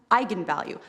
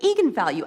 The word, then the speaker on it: eigenvalue: when it came out because apparently it's pronounced eigenvalue that's how you're supposed to say I'm the director don't believe me the fing director told me to say Egon value and its eigenvalue and the whole internet